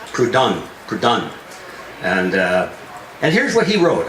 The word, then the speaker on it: Proudhon: The founder of anarchism is Joseph Proudhon. That's how it's pronounced. I had to look it up in the dictionary to get the precise definition of or sound. Is Proudhon.